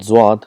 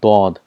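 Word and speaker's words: ض: For example, for Zwad, in Urdu it's called Zwad, but in Arabic it's called Dad.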